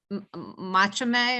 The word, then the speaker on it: Machame: Was Machame, or is that how you Yep, pronounce it? Just the Machame.